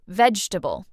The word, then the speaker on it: vegetable: Learners often say veull all four parts, but native speakers say vegetable, shorter, smoother.